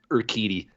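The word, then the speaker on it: Urquidy: your uh your gowatti i forget how you say his name it's it's urkitty or kitty that's what it was on baseball reference it looks like a g thanks baseball reference for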